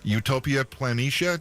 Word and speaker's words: Utopia Planitia: release I played let me see if I pronounced it right utopia planitia is that right yeah now the reason I